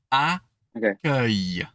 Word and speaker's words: accueil: That one is a hard one. Just by itself. And think UH. Accueil. Accueil. Oh, wow. Let's say it together, actually. Accueil. So, so accueil.